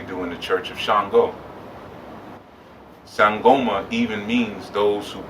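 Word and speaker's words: Ṣàngó: Now shango spelled S A N G O. There's a little dot under the S and a little dot makes it sh as opposed to S.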